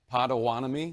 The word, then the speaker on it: Potawatomi: How do you say it? Pottawatomie? You got it.